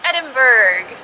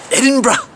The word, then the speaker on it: Edinburgh: name of the city as a Canadian I would be saying Edinburg but I keep hearing the locals say edin so that's where we're